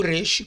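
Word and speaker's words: ריש: O resh como R, tá? Mas não como R em carreta, o carreata, ele é um R bem brando, como barata, barato, rarararará, tá?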